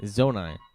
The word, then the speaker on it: Zonai: Zana? Zonai? Zonai. But you too many. It's not enough syllables because Wait, No, you're sorry, right. what's what? Adonai. It's 3 syllables.